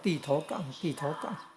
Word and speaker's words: 坔頭港: 然后变成烂头港。也有念作地头港，日文的音是南头口，哦。